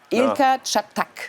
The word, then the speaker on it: Ilker Çatak: This time I will try not to say his name wrongly. Ilka Chatkak. No, this was right? Ilka Chatak.